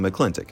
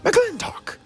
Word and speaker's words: McLintock: Mr McClintock Mrs McClintock while O'Hara mightily says her and John Wayne's character's name as McClintock McClintock McLintock so needless to say I'm gonna go with Marines pronunciation there it's like every time